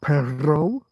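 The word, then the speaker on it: perro: And supposedly you can hear a difference in Spain between a single R and a double R. So pero means but pero means dog.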